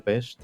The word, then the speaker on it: Pest: dividida en buda y pest que en realidad se pronuncia peste budapest en la zona